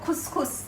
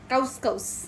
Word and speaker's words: couscous: আজকে আমি রান্না করবো খুসখুস ও খুসখুস হ্যাঁ এই যে খুসখুসের বানানটা দেখান বন্ধুদেরকে কাউস কাউস কিন্তু বলে খুসখুস একদম অরিজিনাল মরক্কা নামে রেসিপিটা দেখাবো